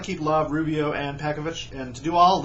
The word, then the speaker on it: Pekovic: I've heard many times that these foreign born players whose names end in IC should be pronounced like itch, so Pekovic would be Pekovic.